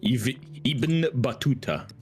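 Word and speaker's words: Ibn Battuta: Uh I definitely like uh Ibun Batua, however you say his name. I'm probably butchering that. Iben Batuta. Iben Batuta.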